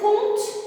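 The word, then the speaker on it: compte: Elle peut être au milieu, je peux dire un conte. Regardez, je ne prononce pas le P.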